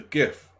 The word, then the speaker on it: GIF: do but it's sure also it's a soft g it's a gif we're not scandinavian we're not gonna say good oh but the person